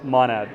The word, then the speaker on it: Monad: I have Abdul who is the head of DeFi from Monad or how do you pronounce it? Manad or Monad? Monad.